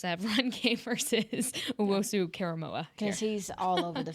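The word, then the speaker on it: Owusu-Koramoah: Owusu Karamoa.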